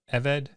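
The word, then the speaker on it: עֶבֶד: common word for slave servant Ovid it's a seglet notice the two so goals and the accent on the first syllable that means that when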